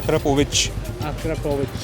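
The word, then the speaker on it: Akrapovič: इसको वैसे Akrapovic India में बोलते हैं, वैसे इसका प्रोनाउंसिएशन है Akrapovic. It's pronounce as Akrapovic. सी के ऊपर एक छोटी सी बार होती है.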